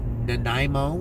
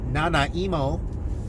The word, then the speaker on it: Nanaimo: beautiful place in a little town called Nanaimo or as my friends like to pronounce it not emo and I'm just going